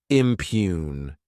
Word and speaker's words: impugn: Next is the verb impugn. To impugn, this word has two syllables, and the stress is on that second syllable.